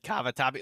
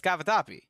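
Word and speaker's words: cavatappi: Ninja said Kavatabi. Look, you even know how to spell it. All right. It's not It's not that hard. I don't It's kavatapi.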